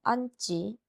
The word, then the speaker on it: 앉지: 어감 받침 니은, 미음 뒤에 결합되는 어미의 첫소리, 기역, 디귿, 시옷, 지읒은 된소리로 발음한다고요. 된소리는 쌍자음을 이야기합니다. 그래서 앉지, 앉고, 감고서는 된소리로 발음이 되고요.